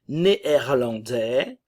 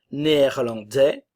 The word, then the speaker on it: néerlandais: ne se prononce pas néerlandais la nasale en et le son et néerlandais le S ne se prononce pas néerlandaise néerlandaise néerlandais néerlandaise